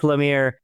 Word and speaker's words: Lemire: Lamir as in come here. So, I want to say Mike Lamir, come on in here.